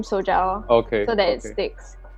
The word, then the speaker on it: SOJAO: gentile is from uh soja is co-founder of sojou um i'm not sure whether i've pronounced it in the in the correct manner so i hope that you can you can do it for me actually it's perfect really okay then okay so it's right awesome awesome also um